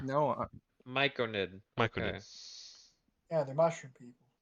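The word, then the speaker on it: Myconid: it oddly and it pops up it goes Mike Noid m-y-c-o-n-i-d micro knit I'm sorry I mispronounced that okay micronate is there an r no there's r no miconid Michael yeah they're mushroom people look at Zeus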